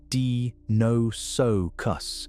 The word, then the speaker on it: Deinosuchus: Deinosuchus, pronounced dee-no-so-cus, means terrible crocodile in Greek.